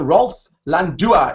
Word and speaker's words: Rolf Landua: Rolf Landua. Is that the way you pronounce it?